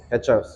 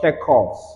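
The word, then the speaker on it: Kirchhoff: Ketchup. Ketchup. Ketchup. It's not called ketchup. It's called kekovs. I think pronunciation. So this is pronounced kekov. It's not an English word.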